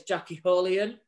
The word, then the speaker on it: Jackie Holian: Just to clear you up on a few things there, it's Jackie Holian, correct pronunciation of Jackie's name.